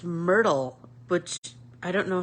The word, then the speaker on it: Myrthe: believe her name is I looked it up online and it's um pronounced Myrtle which I don't know